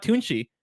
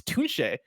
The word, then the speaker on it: Tunche: It's not Tunchi, it's Tunche.